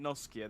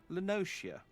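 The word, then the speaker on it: La Noscea: someone's pronounced uh lenotia i've been pronouncing it noskia this entire time lenocia it's it's about what it's pronounced with a shirt sound i shall try and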